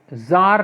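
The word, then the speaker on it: Tsar: साल पीछे जाते हैं 1968 कि इन 100 जार निकोलस बिल बच्चों टीसीआर जो तक मिट्टी साइलेंट होता है इस जार बोलते हैं इसको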